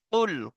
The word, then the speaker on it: قل: দেখেন, প্রথম আছে কি, কফ লাম পেশ কুল, কফ লাম পেশ কুল।